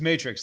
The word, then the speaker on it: Matrixx: I don't I hate getting No, it's it's Matrix. Like the movie Two X's way cooler.